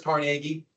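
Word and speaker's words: Carnegie: would be Andrew carnegi carnegi right there is carnegi that's how you pronounce his name Cari bought into the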